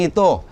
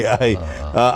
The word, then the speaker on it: Ai: Pero ang pronunciation po yun na I, hindi AI. I.